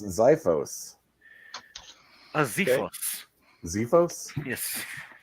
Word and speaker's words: xiphos: I believe it's pronounced Xiphos. a Zephos. Zephos? Yes, Zephos.